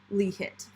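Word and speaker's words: LIHT: too many pouches i way too many um pronounced li hit thank you um oh there's there's an eye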